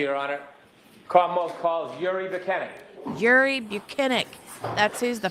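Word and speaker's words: Bukhenik: My name is Yuri Buchanan. My last name is spelled B U K H E N I K.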